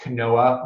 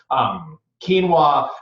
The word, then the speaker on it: quinoa: again she flax quinoa which for years I pronounced Kanoa I'm not gonna throw myself under that bus quinoa and then the two